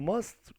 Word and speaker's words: must: You must go to the doctor. You must go to the doctor. You must go. You must go to the doctor. Here T is silent.